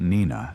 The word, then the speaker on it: Nenina: And because the name Nenina also appears written phonetically, it is reasonable to accept Nenina as the correct pronunciation for the goddess as well.